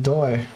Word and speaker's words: Do: So Do is pronounced Doe, right?